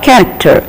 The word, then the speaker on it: character: the letters C and C H are also pronounced as K only we have already seen how the word cool c o l but we are saying it as cool so here the the sound C and K are related to each other cut this is how we show it here and then c h a r a c t r character please look here it is K and then the ASM